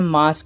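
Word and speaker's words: Masque: Villain का नाम है मास्क और इस मास्क की स्पेलिंग कुछ अजीब सी है। एम ए एस क्यू यू ई और यह एक साइकिक कल्ट लीडर है।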